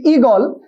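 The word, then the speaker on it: ঈগল: ইগল আমি যদি বলি ইগল অবশ্যই এটা উচ্চারণের ক্ষেত্রে কি হয়ে যাবে ইগল কি হয়ে যাবে বলো ইগল তার মানে হচ্ছে দীর্ঘই উচ্চারণে বসে না ঠিক একইভাবে দীর্ঘ উ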